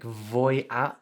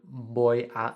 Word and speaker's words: voy: my liking so we've got the voi with it um like voya i'm going to instead of boy in spanish you need to have that the heart you don't have a v sound you've got to make a but uh so few